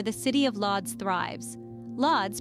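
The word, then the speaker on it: Łódź: city of lods thrives lods pronounced as wuj is a city that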